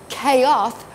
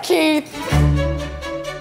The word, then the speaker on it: Keith: I say it as Keith. Why is that? Because that's how I pronounce it. Because your parents named you that. Now, if people started calling you Keoth or Keith or something,